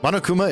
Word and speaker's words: Monokuma: Monokuma is meant to sound like the Japanese pronunciation of monochrome, and of course Kuma means bear, yeah.